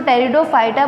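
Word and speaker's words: Pteridophyta: ब्रायोफाइटा के बाद next हमारा है टेरिडोफाइटा। इसमें पी साइलेंट होता है इसलिए हम इसको टेरिडोफाइटा बोलते हैं।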